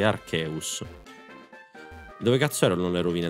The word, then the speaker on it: Arceus: che vado a prendere Nicola vai Togliti Archeus devo andare in bici non rompere cazzo è